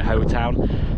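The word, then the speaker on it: Howtown: It says, I don't know, but I think it's Ho Town. Yeah. I think pretty sure you pronounce it Hoetown.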